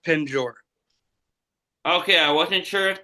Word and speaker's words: penjor: So, pent jaw or and actually there's there's really not a T in there.